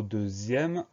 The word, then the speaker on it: deuxième: Quand on lit le mot deuxième, on a la partie où il y a le X qui se prononce Z.